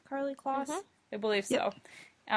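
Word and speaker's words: Karlie Kloss: Carly Kloss?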